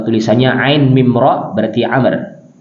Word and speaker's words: Amr: mim ro berarti Amr Kalau tulisannya Ain mim dan ro saja Ain mim ro wau ini Amr bacanya Ya kalau Ain mim ro itu Umar di sini Abdullah IBN Amr ya tulisannya Mirip ya ain mim ro kemudian wau ini dibacanya dengan Amr J anaknya Amr ibnas radhiallahu